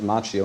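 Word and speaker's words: Macchio: Daniel Son uh played by Ralph Machio which is actually the Italian way pronounced Mchio but I believe he pronounces it machio.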